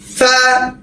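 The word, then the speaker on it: ف: ফা, এক আলিফ টান, ফা, ফা, দাঁত কামড় দিয়ে, ফা, তারপর অক্ষর দেখেন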